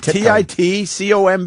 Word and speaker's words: Titcomb: There's no other way to pronounce that. Titcomb.